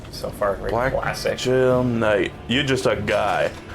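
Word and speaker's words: Gaol: black G Knight jail I believe it's pronounced jail that's right uh and we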